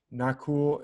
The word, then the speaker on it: Nakul: twins around the world nakul and sahadev are twins in the midst of ancient india in the mahabharata of ancient india usually their names are pronounced without that last a is usually silent so it's like not